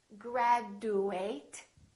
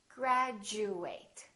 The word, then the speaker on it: graduate: saying je for example we don't say graduate it sounds like we're saying graduate repeat after me graduate graduation let's try a